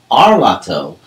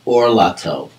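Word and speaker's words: ערלתו: This long kamatz, whenever you see it, you will have the instruction not to pronounce the word arlato, but orlato, because not all kamatzes are created evenly.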